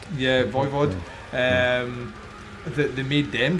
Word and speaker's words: Voivod: Is that how you pronounce? Voivod. Yeah, Voivod.